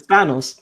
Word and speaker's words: Thanos: Like I keep telling him, it's Thanos. There's no anus in there. It's just Thanos.